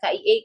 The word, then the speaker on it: KIE: sempat baca, bukan baca, saya sempat dengar knowledge KIE, tapi kamu bacanya knowledge key. Saya sampai nyari, gimana nih knowledge key? Oh, ternyata kamu baca KIE key. Itu kan singkatan ya. Kalau singkatan sebaiknya dibacanya ya sesuai aja KIE gitu ya.